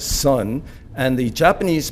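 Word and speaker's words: 선: The Korean pronunciation of that is sun.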